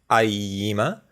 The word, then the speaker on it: AIYIMA: unfamiliar brand to me I think it's pronounced IE EEMA if I'm correct and they're preamplifier slash